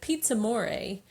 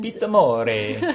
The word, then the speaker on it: PizzAmore: The first thing is that Pizza Moray. We've been there several times. Pizza More. Sorry, I pronounced it Amore. incorrectly. The R is roll.